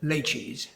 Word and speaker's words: laches: He introduced the equitable doctrine of laches by saying it's pronounced rather like it might be pronounced by a refined Chinese waiter, laches.